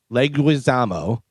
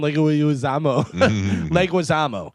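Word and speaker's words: Leguizamo: I always try and add a extra syllable in there and I always go John Legoamo.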